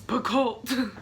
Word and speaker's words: Picoult: minutes by Jodi Picoult someone just corrected my pronunciation of that I've been saying it that way since I was like in high school so it's Picoult this is the book